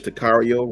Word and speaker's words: Takario: It's Tacario. I think that's Takario, right? These unique names. Takario Davis. I'm sure it's Takario, rhymes with Mario, right?